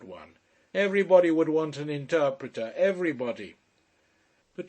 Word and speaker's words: interprete: "Everybody would want an interpreter, everybody." But he did not say interpreter, he said interprete, with the accent on the penultimate, as if it were some sort of priest.